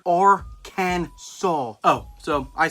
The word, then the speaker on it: Arkansas: you're going to jail they got the right way to pronounce it right here or can saul oh so i said